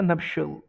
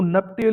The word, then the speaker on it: nuptial: ये देखो NUPTIAL, इसकी प्रोनाउंसिएशन है नप्शल। ठीक है। इसको नपटेल नहीं बोलना, नप्शल है।